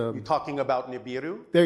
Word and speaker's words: Nibiru: Um, also I'm probably not going to pronounce it right, but um, Nebu, Nebulu, it's a you're talking about Nibiru.